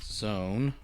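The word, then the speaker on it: Xone: number for his name x1 became zone pronounced like it began with a z all right zone pretended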